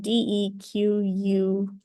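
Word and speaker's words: dequeue: let me write it out dqe differs from D qu e e so this is pronounced deck and that's something different so spelling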